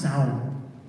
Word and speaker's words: Samhain: That's not how you pronounce that word. I don't know if you know, Halloween actually originated in Ireland, and it was a harvest festival that Americans call Samhain. And I'm going to mess this up entirely, and every person in Ireland is going to beat me up the minute I got off the plane Monday morning when I fly tomorrow night. But I think it's pronounced Samhain. Samhain, right? Samhain.